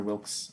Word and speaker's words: Wilkes: All right, Senator Wilkes, unopposed. I thank the chair. Hi, everybody. Wilkes, W-I-L-K-E-S. For the pronunciation, the E is silent.